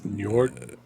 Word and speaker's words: Njord: It's Njord.